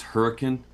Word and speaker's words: Hurricane: he loved It's called it's spelled hurricane, but it was hurricane because that's the southern Utah accent.